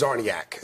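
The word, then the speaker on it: Czarniak: It starts with a C. The C is silent.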